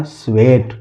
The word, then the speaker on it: sweat: इसी तरह इसको भी देख लेते हैं, SWEAT कैसे पढ़ेंगे, तो S से आधा हो गया स, W से हो गया व, E से की मात्रा, और ये यहाँ साइलेंट है, और T से हो गया ट, तो क्या हो गया, स्वेट।